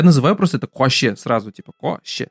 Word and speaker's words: койще: Я называю просто это коще сразу, типа коще. Да, она реально как-то при разговоре вообще не слышится. Мы все говорим коще, барма, коще китер, коще кирек. А пишется вот из 5 букв.